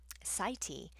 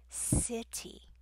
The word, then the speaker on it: city: Sighty, and you could say to them, sighty, no sighty, city, city, and that helps them go, oh, I said it wrong.